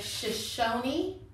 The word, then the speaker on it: Shoshone: Can you say Shoshone? Yeah, that E is not silent like in our language. They actually pronounce it with a long E.